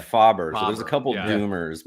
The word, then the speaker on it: Faber: Well, because there's another Doom, which is Faber, but he's actually pronounces it Faber.